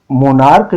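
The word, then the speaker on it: monarch: तो ये मोनार्क जो है CH का उच्चारण क है, बेंच में CH का उच्चारण च होता है, इसलिए वहां ES लगाए और यहाँ S लगाए।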